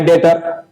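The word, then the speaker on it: debtor: बैड डेटर हो गए date से ही बना है डेटर तो बी को साइलेंट कर देना है हमको पढ़ना है बैड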